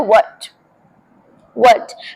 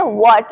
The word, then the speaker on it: what: Next मिसप्रोनाउंस्ड है WHAT, लोग बोलते हैं व्हाट, बट इसे बोलते हैं व्हाट।